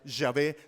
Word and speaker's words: Yahvé: Son 4 letras, son 4 consonantes, lo que se denomina como el tetragramatón, 4 letras, que bien se pueden pronunciar Jehová o bien se puede pronunciar Yahvé, no tienen ningún problema, así que no se metan en líos por eso.